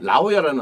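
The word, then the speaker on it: La Jolla: 라오야라는 아주 아름다운 휴양지 도시가 있는데 네네. 골프장 좋은 데 많고 골프장 많이 해요. 라오야. 네. 근데 그게 스펠링이 LAJOLLA거든요. 네. 근데 스페니시란 말이에요.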